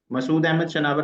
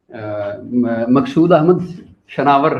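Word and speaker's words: Maqsood Ahmad Shanawar: बिल्कुल गलत किया जी। बस फिर मैं माफी चाहूंगा जी प्लीज। मकसूद अहमद शनावर है मेरा नाम।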